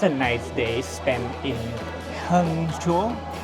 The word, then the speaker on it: Hangzhou: Well, that was a nice day spent in Hangzhou. Hangzhou. Wow. At the end of the day, you still got the name wrong.